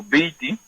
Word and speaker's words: buiti: buiti o biti, buiti se escribe y biti se pronuncia, está bien, o está bueno, es una palabra muy popular, bitu, bien, Ok.